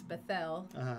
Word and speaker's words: Bethel: So remember, he had stopped at, we say Bethel, but it's Bethel is how they would say it properly.